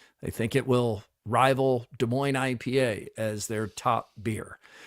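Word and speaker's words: Des Moines: This Friday we will be at Wellman's rooftop in West De Moines. As we all know, this is silent.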